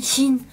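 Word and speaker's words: 心: Thì đó là chữ tâm, khi mà ghép với những chữ khác thì nó sẽ làm âm on, đọc là shin.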